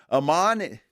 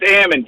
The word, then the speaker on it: Ammon: And Amon, did I pronounce that correctly? Oh, it's Ammon, Jammin' Ammon. But Ammon, gotcha.